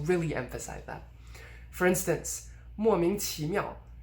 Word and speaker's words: 莫名其妙: point after the idiom, you would stress the first syllable and de-stress the other ones. Or you would stress everything but overstress the first syllable, so really emphasize that. For instance, 莫名其妙.